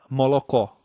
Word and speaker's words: молоко: Então, por exemplo, uma palavra que em russo é leite, né? Молоко. Você fala molocó.